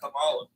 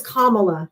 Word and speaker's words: Kamala: We're talking about Camala. Her name is Kamala. You don't even know how to say her name properly.